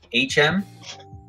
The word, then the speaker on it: H&M: You pronounce it HM, but pronounce the H like in ho.